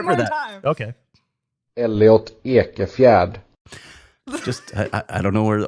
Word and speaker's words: Ekefjärd: while you're putting his name in the chat, let's hear the pronunciation of Elliot's name one more time. Elliot Ekefjärd.